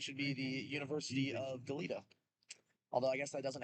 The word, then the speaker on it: Goleta: Or Goleta, that's how you say it.